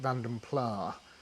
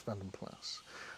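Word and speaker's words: Vanden Plas: brain that plus it a lot of people over here pronounce it vandom PL because that's how they sort of sold them as they were trying it to be quite POS as vandom PL but it's not as vandom plus um but anyway that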